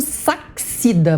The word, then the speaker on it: Sachsida: É Adolfo Sachida, mas vocês me perdoam porque se escreve Sachsida.